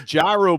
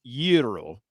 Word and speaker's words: gyro: in uh you know I know what the the Greek pronunciation is is utero literally yeah but I live in Barboursville West Virginia so I call it a gyro that's me there's a